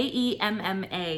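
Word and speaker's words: Aemma: remember asked chris um it's spelled a e m m a it's emma emma emma yeah a e m m emma amma emma so mom that's right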